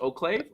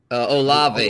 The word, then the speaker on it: Olave: Lamb, Hall, Herbert, BMW, Dylan, Ayuk, and then is it pronounced Oclave? Olave, Chris Olave from Ohio State. There's not even a C in there.